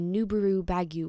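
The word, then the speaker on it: ヌーベルバーグ: across the water and the nubaru baguio was formed literally the japanese pronunciation of nouveau vag in a last-ditch attempt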